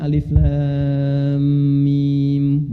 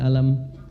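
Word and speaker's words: الم: benar Tahu dari mana bacanya Alif Lam Mim bukan alam karena dengar kan Nah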